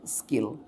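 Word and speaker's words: skill: কিন্তু যদি এস আসে তাহলে এটার উচ্চারণ হয়ে যাবে কি? এস এর সাথে ক যুক্ত হয়ে যাবে, স্কিল।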